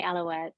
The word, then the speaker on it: Alouette: country her name is mary and do we pronounce it alouette yes mary alouette i got it right so mary and i